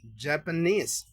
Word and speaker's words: Japanese: La segunda palabra es Japanese. Japanese viene de la palabra Japan, que es Japón. Así que esto sería japonés. Japanes. Recuerden que siempre la e final es muda.